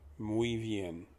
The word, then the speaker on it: muy bien: that you're used to the mu is mu as in move out of the way or mu a cow moves the y is just pronounced e so it's muy is spelled as a i'm sorry it's pronounced b as in the animal or i'll be there soon and then you just have an n at the end of it b n